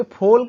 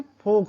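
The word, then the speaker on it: folk: तो ये फोल्क नहीं बल्कि फोक होता है।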